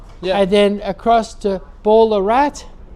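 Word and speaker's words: Ballarat: across to Bendigo and then across to Ballerat. Yeah. And then Berat. Yeah. That's it's correct the correct pronunciation is Berat.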